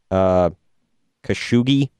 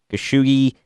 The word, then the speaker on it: Khashoggi: Jamal, I'm going to butcher his name here, Khashoggi, I believe is how you say it.